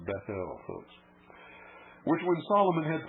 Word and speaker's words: Bethel: and consecrated it to god this should be pronounced bethel opposed which when solomon hit bounds no doubt